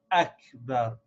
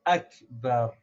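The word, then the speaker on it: أكبر: so we have to make sure to pronounce this Aleph very clearly and sharp Akbar Allahu Akbar so that we can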